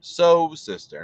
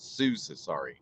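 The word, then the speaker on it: Sosista: time I'm so sorry so sister as in sewing machine so sister not Sue say sorry sorry so so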